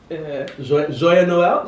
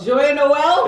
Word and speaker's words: Joyeux Noël: Joyeux Noël. Joyeux Noël.